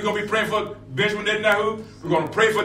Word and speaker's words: Benjamin Netanyahu: But during our intercession prayer, when we're praying for our leaders of our land, we want to pray for Benjamin Netanyahu, and that's how to pronounce his name, over in Jerusalem, Israel.